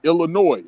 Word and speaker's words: Illinois: We was part of that Illinois which is why the S is silent because the French pronounced all of their words with the S silent in in in their language.